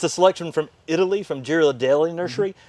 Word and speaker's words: Ghirardelli: It's a selection from Italy, from Ghirardelli Nursery. Kind of like pronounced the same way as like Ghirardelli chocolate, but completely different people.